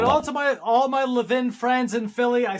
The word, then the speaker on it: Levin: So, there's there's two ways to pronounce my last name. You said Levvin. The all the wonderful Levven are from Philadelphia. The Levens are from New York City. So I was born in Brooklyn, so I'm 11.